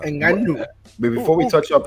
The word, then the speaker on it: Ngannou: You gotta say it right. Francis Ngannou. Nah, stop. Ngannou.